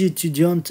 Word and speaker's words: étudiante: Je suis étudiante.